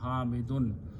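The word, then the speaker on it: حامد: Okay, hamidun, important thing is that last letter has two pesh or two dhammas and pronounced with a noon, hamidun.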